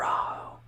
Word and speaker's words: rojo: because I you know in Spanish you can only say Rojo or raho but it's an H so it's like softer and we are I